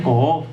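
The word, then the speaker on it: קוף: Ese es el título que se le confiere, y está influenciado por una letra que se pronuncia Ko'of, que es la letra que está relacionado íntimamente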